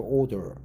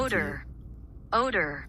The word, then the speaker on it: odor: So their built-in order eater eater testing their device on the shoes of several Senu athletes which had a very strong doable order.